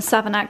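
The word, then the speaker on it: Savernake: From Savanaki.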